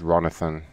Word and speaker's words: Ronathan: so sometimes no problem my name is ronathan how do you spell that like Jonathan it R that's correct yes yeah